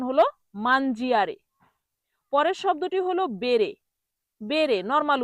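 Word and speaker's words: bere: পরের শব্দটি হলো বেরে। বেরে নরমাল উচ্চারণ বেরে।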